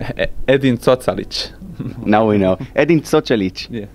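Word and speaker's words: Edin Cocalić: course try to win now for the fans edin chalich how do you say it edin talich now we know edin talich thank you very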